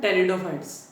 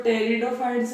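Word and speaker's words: Pteridophytes: देखा आज देखेंगे अपन टेरिडोफाइट्स आज कौन सा देखेंगे टेरिडोफाइट्स टेरिडोफाइट्स अब देखो जो टेरिडोफाइट्स है वो पी से स्टार्ट होता है पर पी क्या रहता है यहां पे साइलेंट रहता है ठीक है अगर इनकी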